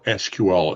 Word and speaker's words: SQL: They basically said it's pronounced either SQL or SQL.